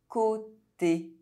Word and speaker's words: côté: Circumflex O is pronounced O. Bientôt. Côté.